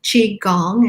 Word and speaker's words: qigong: to nurture ourselves and to build gong gong is spelled g-o-n-g it's kind of a funny word but that's chi gong and tai chi is part of qigong and